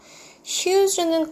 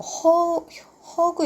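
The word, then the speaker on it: huge: 찾는다 또는 발견한다는 거죠 휴즈는 거대한이라고 했어요 휴지라고 읽으셔야 돼요 뭐 허그 이렇게 읽는 친구들 있는데 어 허그는 껴 다이가 없고요 얘는 uge 거대한 월은요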